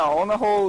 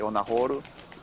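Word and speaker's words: オナホール: __ ] right yeah on a hole is um well on in that in that pronunciation they will probably not not understand but but if you say if you up to a Japanese guy and say on a horu then maybe some will understand yeah it got to be that horu on a yeah because that's how it's pronounced okay did you Victor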